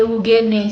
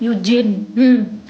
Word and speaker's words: Eugene: Sebenernya Eugene sih, tapi karena banyak yang salah pronounce namaku, jadi ya aku ubah jadi Yujin. Biar lebih mudah gitu dibacanya ya kan, Eugene.